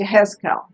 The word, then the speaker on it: Yehezkel: I forgot how to say it in Hebrew, and it's Yehezkel.